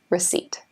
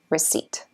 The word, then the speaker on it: receipt: receipt that's a strange-looking one how do I pronounce that EW I and what about that PT like this receipt receipt what is a receipt it's a piece of